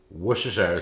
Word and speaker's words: Worcestershire: ground beef we have onion we have pepper Worcestershire sauce I guess that's how you pronounce it right you got olive oil and